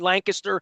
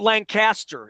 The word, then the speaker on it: Lancaster: We have this whole Tommy Conwell thing coming up here in Lancaster, not Lancaster. It's Lancaster No, in Buffalo.